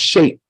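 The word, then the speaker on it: Sheth: third son of Adam this name is is pronounced shape and it's a root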